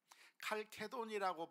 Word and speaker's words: 칼케돈: 칼케돈이라고 발음해도 되고 칼세돈이라고 발음을 해도 되고, 그런데 아무튼 이 칼케돈이라고